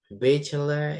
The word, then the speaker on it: bachelor: Bachelor itu S1 ya. Biasanya kan C itu dibaca jadi K. Tapi kalau di sini C-nya tetap C ya, bachelor.